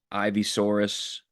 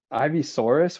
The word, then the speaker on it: Ivysaur: Ivysaurus? What is an Ivysaurus? Ivysaur.